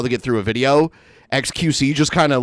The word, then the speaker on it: xQc: xQc, is that how you say it? Yeah, he's one of the biggest Twitch streamers.